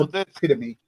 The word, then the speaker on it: epitome: It's epitome. Epitome. The epitome? Not epiphany.